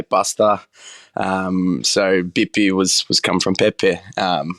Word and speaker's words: Bippi: down to Pepe but down south in Calabria a lot of people pronounce the letter P with B so when we say instead of saying pasta we say Buster um so bippy was was come from